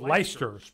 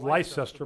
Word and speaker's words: Leicester: Now, in the UK, there's a city here by the name of Leicester. It's spelled Leicester, but I think they pronounce it Leicester.